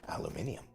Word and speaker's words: aluminium: this biome full of aluminum, or if you prefer, aluminium. I use them both interchangeably. It's just the way I am. I've learned to use both. Neither one is wrong. They are both correct pronunciations.